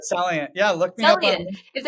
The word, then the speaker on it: Celliant: Celliant.